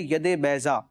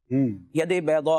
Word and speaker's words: ید بیضا: فرمایا گیا وہ ہے ید بیضا، ید بیضا، اگر عربی میں کہیں ضاد کی اس کا تلفظ لیتے ہوئے، ید کا معنی ہوتا